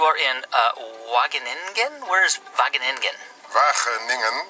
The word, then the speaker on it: Wageningen: Wageningen. It's very difficult for you to pronounce.